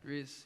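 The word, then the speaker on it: Dris: So it's spelled differently, but very similar. Okay. Dries.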